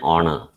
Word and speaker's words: honor: and honest man and honor okay so it is an honor to me because the beginning h is silent it is not sounded so h is silent